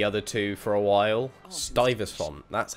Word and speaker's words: Stuyvesant: haven't played the other two for a while stuyvesant that's how you say his name not stay visa oh my god why are we so high